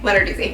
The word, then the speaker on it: Lenarduzzi: Lenarduzzi. Lenarduzzi.